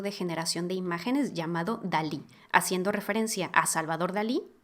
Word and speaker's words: DALL-E: generación de imágenes llamado Dalí haciendo referencia a Salvador Dalí y a Wally de la película de Pixar el modelo se escribe así como Wally pero con D este modelo funciona con